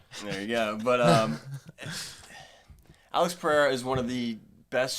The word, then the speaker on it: Pereira: over commentate that time you can roll your RS you can say the RS you just can't use an H there you go but um Alex Pereira is one of the